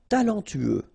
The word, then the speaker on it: talentueux: talentueux. Final X not pronounced. Then you get this U together. Then TU, tueux.